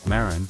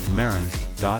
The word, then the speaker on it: Marans: However, for the sake of simplicity and clarity in this video, we'll stick with the more commonly used English pronunciation, Maran, or Maran.